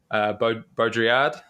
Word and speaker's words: Baudrillard: And then there's this thinker called, which I've been saying, pronouncing incorrectly off mic, Baudrillard.